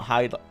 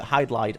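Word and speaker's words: Hydlide: Not hide-idle. How do you say it? Hide-lied. Oh, hide-lied. Hide-idle.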